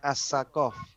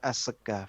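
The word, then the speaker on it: السقاف: Nah, makanya ada as-segaf, itu kan aslinya as-sakof, tapi mereka membacanya as-segaf, itu dari bahasa Hadramut katanya.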